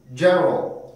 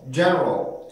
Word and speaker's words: general: general, general, general. 자, 그러면은 제가요 발음을 해볼 테니까 일부러 만든 건지 만들어진 건지를 한번 여러분들이 그 캐치를 해보세요.